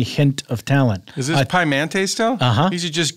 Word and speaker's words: Pimente: How would you pronounce that name? And lower at the bottom in parentheses. Pimente.